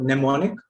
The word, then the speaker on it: mnemonic: For example, mnemonic, where M is coming before N. So there only the N is produced. So mnemonic.